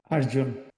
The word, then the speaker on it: Arjuna: big leader like the Indian, how do you pronounce his name? Arjuna.